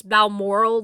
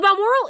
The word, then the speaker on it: Balmoral: Bearing in mind that I listened to this as an audio book, I could be mispronouncing this, but I think it's Balmoral, like Balmoral Castle in Scotland.